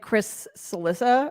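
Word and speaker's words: Cillizza: schadenfreude oh like like Chris salissa I mean sorry it rhymes with Chris Alissa long more than a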